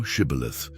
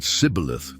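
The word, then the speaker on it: Shibboleth: Then they said to him, "Say now, Shibith." But he said, "Caleith," for he could not pronounce it correctly.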